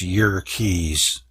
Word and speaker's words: Yerkes: Hiltner of Yerkes Observatory, actually it's Yerkes, Wikipedia says to pronounce it that way, Yerkes Observatory found that the light from certain stars is strongly polarized.